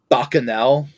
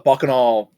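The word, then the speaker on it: Bacchanal: Do you think Bakano is rated related to Bakanel? Bakanel? What's Bakanel? What in the goddamn is that? Bakanel. Uh, Bakanol. Bakanol, I think is a more correct way to pronounce it, was an ancient Roman celebration of just chaos.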